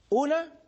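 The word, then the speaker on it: οὐ: Una es la que acabo de escribir en la pizarra, me. Y la otra es u. Se escribe o-u.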